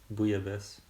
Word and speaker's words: Bouillabaisse: Bouillabaisse. Yeah, you say it right. Bouillabaisse.